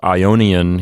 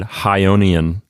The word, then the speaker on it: Ionian: a friend of his who pronounced the name of the ionian sea instead of ionian he said hyonian and so catullus pokes fun at him for that that's uh catullus 84.